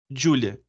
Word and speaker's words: Giulia: Tem empresa, me corrija na pronúncia seu nome, é Giulia mesmo, né? Júlia. Giulia.